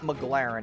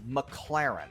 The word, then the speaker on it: McLaren: It's not McLaren, it's McLaren. Okay, so that's how we know this guy doesn't really have a lot of status.